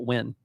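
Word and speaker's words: Nguyen: But we Americanize that name, so we just call it Wen. We don't pronounce the N and the G.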